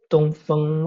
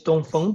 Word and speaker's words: Dongfeng: Yeah, Dongfeng. Or in Chinese it's Dongfeng, but yeah, for other, you know, the Kiwi audience or Australian audience, Dongfeng is this the way.